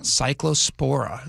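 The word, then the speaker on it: Cyclospora: Cycllospora. Am I pronouncing that right?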